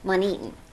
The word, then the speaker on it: MontEton: syllable Kennon kenon and Monon mon Monon Monon okay Accent on the second syllable there okay with three syllables so thank you so